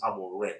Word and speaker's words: Amorim: The reason why Amorim is actually his name is Amorim. It's actually pronounced with an N, not an M.